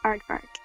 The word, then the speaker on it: aardvark: And it is pronounced Aardvark.